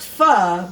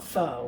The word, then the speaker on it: pho: day now it's pronounced pho but it's spelled p-h-o so a lot of people call it foe which is incorrect all right good good